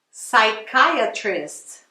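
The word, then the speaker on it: psychiatrist: você vai falar direitinho esse P aí de comer se você não vai falar tá então ó sai caia triste Website is on o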